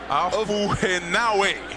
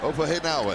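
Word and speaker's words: Ofahengaue: Ofahenawe. Ofahenawe.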